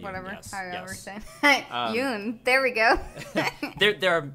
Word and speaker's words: Jung: Oh yeah, isn't that Carl Jung? That is Carl Jung. Whatever. Yes. Jung.